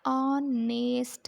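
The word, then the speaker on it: honest: हिन जी प्रोनाउंसिएशन जेका ज़ाहिर थी थिए उहा इहा थी थिए ऑनेस्ट, मतिलबु अलमंद आ जी प्रोनाउंसिएशन था असां कढूं ऑनेस्ट।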